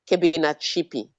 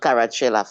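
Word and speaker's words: Kebinatshipi: You have to be able to pronounce it because all the Europeans are pronouncing it. So I will not forgive any African for not to being able to say Kebina Chipi. It's not Carachella, for goodness sake.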